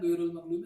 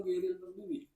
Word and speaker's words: غير المغضوب: Nanti bacanya Fatihah ghairul maghdubi apa ghairil maghdubi? Ghairil kan?